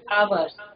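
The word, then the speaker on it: hours: उसको हम पढ़ेंगे आवर्स, इसमें साइलेंट रहेगा, ठीक है?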